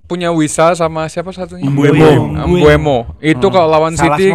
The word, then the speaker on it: Mbeumo: Mbeumo. Itu kalau lawan Salah City semua, tahu lihat Indonesia salah. Bukan Mbuemo. Mbeumo.